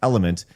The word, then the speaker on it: LMNT: Says, Craig, if you're going to continue starving yourself, then invest in LMNT, pronounced element.